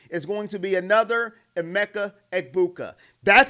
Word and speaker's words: Emeka Egbuka: Carnell Tate is going to be another Emeka Egbuka.